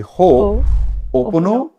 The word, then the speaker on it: Ho'oponopono: Say Ho'oponopono.